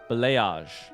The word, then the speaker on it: Blayage: Oh, Soft G. Blayage.